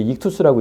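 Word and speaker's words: ΙΧΘΥΣ: 저걸 이제 익투스라고 읽어요. 익투스.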